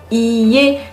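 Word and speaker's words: いいえ: Attention à la prononciation, il faut bien prononcer les deux i. Iie, car en prononçant un seul i et, donc iie, cela veut dire maison.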